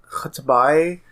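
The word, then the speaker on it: X'tabay: cracked me up yeah I think the name is supposed to be pronounced kabay but it's like X apostrophe t a b a y it's uh she's she's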